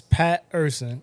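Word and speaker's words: Pat' Er Son: Yeah, so it's Pat Urson.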